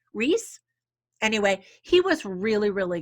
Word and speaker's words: Rhys: It's Rhys Reese.